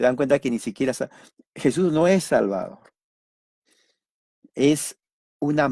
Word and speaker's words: Jesús: No lleva el acento en la U. Jesus. En inglés es, en español, Jesús. Jesús.